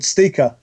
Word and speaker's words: ST1KA: Are you familiar with a Portuguese gentleman called Steaker at all? What game? Steaker? Yeah, What? it's spelled ST1KA.